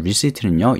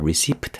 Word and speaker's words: receipt: 여러분 receipt는요 영수증 되겠습니다. 자, 발음 중요한 게 P가 보이시죠? P는요 보이되 소리가 안 나요. receipt 아니에요. receipt.